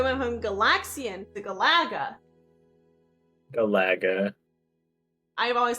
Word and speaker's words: Galaga: in the last 3 months that not everyone pronounces it Galaga. What? Yeah, like my professor and other people in the class pronounced it Galaga.